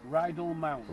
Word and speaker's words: Rydal Mount: How do you pronounce that, Gary? Rydal? Rydal Mount.